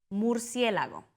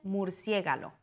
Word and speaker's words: murciélago: Murciélago. Algunas personas dicen murciégalo.